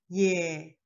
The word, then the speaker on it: ㅖ: Ye, ye. Let's see the second one. Compared to the first one, jaw raised and say ye, ye. We can find this sound in yesterday, yellow, and a poet name, Yates.